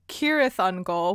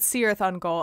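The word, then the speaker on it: Cirith Ungol: goal which yes like i said the entire time i was reading the book i said seareth on goal and this was even knowing someone had told me that basically all of the c's in tolkien are pronounced like a hard k so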